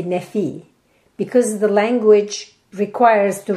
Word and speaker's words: Nephi: In Turkey, you wouldn't say Nephi, you will say Nefi.